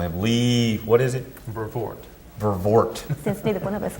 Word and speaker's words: Vervoort: Vervoort.